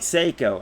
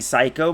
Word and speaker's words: Seiko: Seiko is pronounced more like Seiko. I actually have pronounced it correctly a couple times throughout this playthrough, but I like saying Psycho more. But Seiko, pronounced like Psycho, is also a Japanese